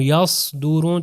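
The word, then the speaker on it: يصدرون: اگر میں کہوں یصدرون تو اس کا مطلب ہے کہ زبان پیچھے سے اوپر جا رہی ہے اور موٹا تلفظ ہو رہا ہے.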